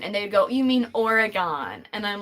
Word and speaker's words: Oregon: it is not pronounced Oregon that's a big pet peeve of people who live in Oregon it's pronounced Oregon like you have organs in your body it's the same pronunciation